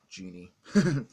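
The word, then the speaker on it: Djinn: a former assassin, and Genie, which is spelled D-J-I-N-N, Genie.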